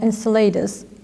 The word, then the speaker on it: Enceladus: is able to support life I'm talking about Enceladus if I'm pronouncing it correctly yes you do so Saturn's